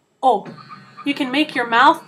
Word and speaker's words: O: You just need to remember not to put that W sound at the end. It's not O like we say in English, just plain O.